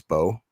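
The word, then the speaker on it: Mbow: It was Marcus Bowe. They spell it with an M, MBO. He's from Purdue. Mm-hmm. Apparently it's just Bo, no M. You don't pronounce it. The M is silent.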